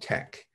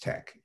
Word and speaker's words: TeX: and invented something called tech which is spelled t-e-x but pronounced tech and there is a